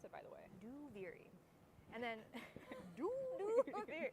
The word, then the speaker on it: Duviri: Duviri out loud is that's how you pronounce it, by the way. Duviri.